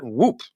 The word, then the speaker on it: WHOOP: military team sales at woop and i don't think i had to say it like whoop but you just have to say it like that and chris and robert are